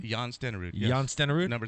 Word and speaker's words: Stenerud: Jan Stenerud. Is that how do you pronounce his name? Jan Stenerud.